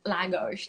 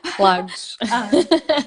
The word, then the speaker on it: Lagos: And my boyfriend, obviously, his family has traveled here before, so they highly spoke about Algarve and Lagos and Lagos. Now I said it right. Lagos.